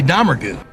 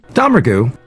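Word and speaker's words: Domergue: that from name pronunciation look at how John pronounces Daisy's last name Daisy dgu now it wasn't how Tarantino pronounces the name dgu it's the same however when Daisy pronounces her own last name it is different the Jodie domingre gang with Jodie being her brother I take this to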